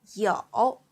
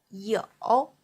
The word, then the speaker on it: 有: 有 e o with third tongue, 偶 e o 有 e o 有 Please repeat.